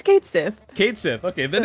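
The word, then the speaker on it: Cait Sith: They tweeted like how you actually pronounce Kate Sith. Is it So Kate it's like, Sith? yeah, it's Kate Sith.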